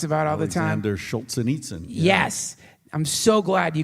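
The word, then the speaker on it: Solzhenitsyn: Jordan Peterson talks about all the time they're Schultz and Itza yes I'm so glad you could pronounce his name because I was just gonna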